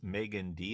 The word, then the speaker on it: Meaghan Dee: we are again and we have with us Megan D and did I pronounce that correctly yes you did all right